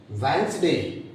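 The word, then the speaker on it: Wednesday: वेंसडे, वेंसडे, डे is silent.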